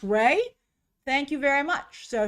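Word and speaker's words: Rhea: It's pronounced Ray.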